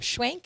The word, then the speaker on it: Schwenk: All right, we are back in studio with Phillip Schwenk.